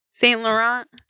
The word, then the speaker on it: Saint Laurent: Saint Laurent. Oh yeah, no, that's how you say it.